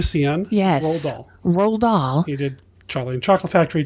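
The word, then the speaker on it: Roald Dahl: a look online and it appears Fanta cysts Ronald doll who of course wrote Charlie and the Chocolate Factory it's actually pronounced and I'm not joking roll doll roll aah why why did they see Ronald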